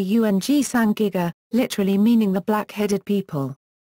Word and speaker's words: ùĝ saĝ gíg-ga: The Sumerians referred to themselves as Ugsagiga, cuneiform, phonetically Ung-Sangiga, literally meaning the black-headed people.